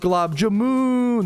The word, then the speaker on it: gulab jamun: It's actually pronounced glob jamoon. There's way more O's.